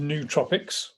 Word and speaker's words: nootropics: Well, it's pronounced nootropics, just in case you weren't sure.